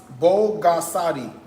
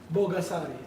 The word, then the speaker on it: Bogasari: This is, it's Bogasadi. Bogasari.